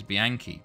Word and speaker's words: Bianchi: The pronunciation of Bianchi is Bianchi.